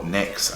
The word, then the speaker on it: NYX: is a MX or NYX as they're officially pronounced what I like about